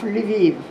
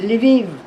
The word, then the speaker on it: Lviv: And she was able to enroll in the law school of Lviv.